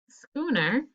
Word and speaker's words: schooner: your hand is kn schooner is just n and knee is can and some of you that are asking what is a schooner and do notice that it's the ch that says k in this word um it's a